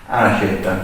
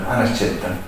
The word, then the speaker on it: Nascetta: Is that the correct pronunciation? Right. Okay. Can you say it? Anas-cetta. Anas-cetta.